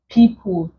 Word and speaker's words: people: here we have wind people evil he if you check people contains the long e sound the e o here